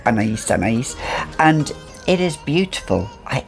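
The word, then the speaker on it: Anaïs: a classic classic timeless elegant fragrance and anagies anais is um how it's pronounced a lot of people will say m-a-n-a but it's anna's and it is beautiful i absolutely love this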